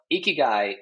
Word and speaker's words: ikigai: I can spell it. Ikigaie.